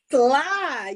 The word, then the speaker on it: Nselaa: All right, so tonight we have a special guest, Nselaa Ward. Did I say it right? Nselaa, yes, but Nselaa, everybody, I Nselaa.